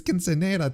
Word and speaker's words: quinceañera: That's how I found that's quinceañera. Is that how you pronounce it? Quinceañera. Oh yeah, okay, that makes sense because the N has the tilde on, right? It's not na, it's nya.